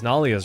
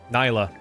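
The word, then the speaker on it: Nailah: Because Nalia's right there. Nyla. I keep wanting to mispronounce her name.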